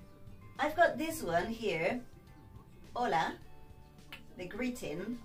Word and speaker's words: hola: La letra H es shh, muda, no se pronuncia.